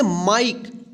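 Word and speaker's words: mike: एम आई के ई इसको क्या पढ़ेंगे? माइक। देखिए कल के हमने क्लास में सीखा था इ के उच्चारण नियम में। कि जब किसी वर्ड के अंत में इ रहे और इ से पूर्ववर्त यानी पहले आई रहे। तो इस आई का आई उच्चारण होता है और इस इ का उच्चारण नहीं होता है।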